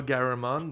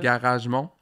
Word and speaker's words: Garamond: Garagemont. Garagemont. Toi, tu prononces Garagemont? Tu rajoutes des sons, des lettres.